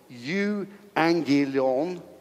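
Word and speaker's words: εὐαγγέλιον: is from god's spell the greek word for gospel is yugi leon you angelion not very good at the greek pronunciation but it means a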